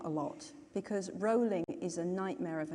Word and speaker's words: Rowling: and spell Murray but no I've got rolling and everyone says Rowling and and so just